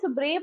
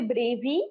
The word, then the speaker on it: brave: brave now in this Brave also there there are two WBLS a is also there e is also there but e is silent and it is pronounced as Brave we don't say bravey do we say so